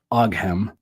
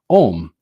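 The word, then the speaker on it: Ogham: language of the trees, which looks like it would be pronounced Oghem, O-G-H-A-M, or O-G-A-M, but it's actually pronounced Om.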